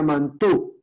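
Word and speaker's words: Mantoux: mantuvo se llama mantox se escribe m a a ux termina en a ux mantox y se pronuncia mantú es una palabra francesa eso es se le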